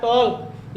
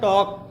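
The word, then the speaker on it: talk: वहां पर यल साइलेंट होता है, अर्थात वहां पर हम प्रोनाउंसिएशन करते समय, उच्चारण करते समय यल की ध्वनि नहीं निकालते हैं, अर्थात यल को नहीं पढ़ते हैं। जैसे यहाँ है टॉल्क, लिखा है टॉल्क, लेकिन हम लोग इसको पढ़ते हैं टॉक।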